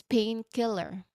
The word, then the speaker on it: painkiller: So it's painkiller with a slight pause between the two parts.